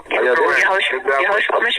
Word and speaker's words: Yahoshua Mashiach: Yahoshua Mashiach.